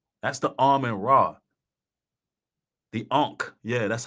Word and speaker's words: Ankh: The Ankh. Yeah, that's how you pronounce it.